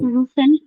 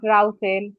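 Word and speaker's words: rufen: রুফেন। রুফেন, নট রাউফেন। ইউ এর রুফেন।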